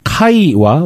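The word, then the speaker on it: Χ: 아마 대부분 분들이 지금 뭐 이렇게 검색을 하셔도 되고 라마 라바룸이라는 거 그리스 문자 헬라어로는 이제 카이와 로우라고 발음하는데 우리가 이제 크리스마스를 엑스마스라고 하잖아요.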